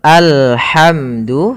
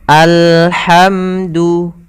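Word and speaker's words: الحمد: abdih Kemudian pada lafal alhamdu hati-hati dalam pelafalan huruf ha ha di sini ha yang kecil maka kita melafalkannya dari tengah tenggorokan kita alhamdu lillah dua harakat lafalnya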